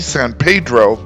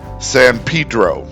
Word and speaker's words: San Pedro: Yes, I know it looks like it should be San Pedro, but the locals will tell you that it is San Pedro.